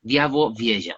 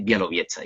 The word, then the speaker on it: Białowieża: Y en teoría se pronuncia Białowieża, o sea que es, bueno, el uso de las letras ahí es un poco distinto, pero le podemos decir Białowieża y ya está.